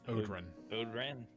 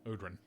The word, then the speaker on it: Odran: Odran. Odran. Okay. It's literally pretty much how it's spelled. Yeah. Okay. Yeah. Might put the umlaut over the O to make sure you do the ooh.